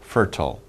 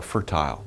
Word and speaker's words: fertile: It is very fertile or fertile. Some people pronounce it different ways.